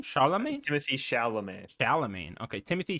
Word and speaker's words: Chalamet: Chalamet. Timothy Chalamet. Chalamet. Okay, Timothy Chalamet. No, not with the T. Not with Chalamet.